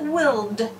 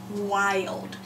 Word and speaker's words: wild: really should pronounce it willed if it follows our rule but it's a rule breaker and we are allowed to say the long I wild so if you see